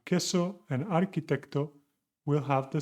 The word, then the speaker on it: queso: The QU always sounds like a K, K, followed by A, queso, arquitecto. So this is the rule